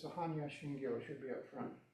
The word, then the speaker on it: Shingyo: Shingyo. O is not quite O. It's more O. It's a flat O.